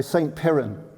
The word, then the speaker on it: St. Piran: So St. Piran.